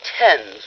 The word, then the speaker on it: Thames: I shall probably end it all by leaping into the Thames River. Oh, Mr. Marx, it's pronounced Thames River. That's for the stomach, isn't it? I shall leap into the Thames River.